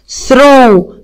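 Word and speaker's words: throw: برافو حبايبي الحلوين، اهو تي والاتش هنطق حرف الث. ثرو، ثرو يرمي.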